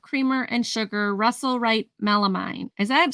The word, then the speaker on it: melamine: and sugar Russell write melamine is that I'm saying that right melam Mel melamine melamine there you go Patty um melamine yeah yeah even though it's spelled mine it's mean M me like yeah yeah